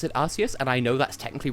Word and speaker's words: Arceus: I do pronounce it Arceus, and I know that's technically wrong, because as Austin on Sugar has told me many times, it's supposed to be Arc plus Deus, so Arceus, but I call it Arceus,